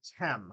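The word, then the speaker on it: Khem: by a new villain named hem her name is spelled k-h-e-m but and you'll read it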